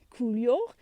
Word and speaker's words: coulure: The easy way to pronounce it, cool and yaw, coulure, and that is bad fruit set.